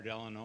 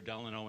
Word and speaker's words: Delano: But the 2 main pronunciations are Delano and Delano.